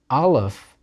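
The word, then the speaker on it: aleph: will be one of the two consonants that nowadays are silent alive is one of them next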